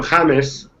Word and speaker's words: James: you pronounce it uh he go he asked people to call him jamus so I think that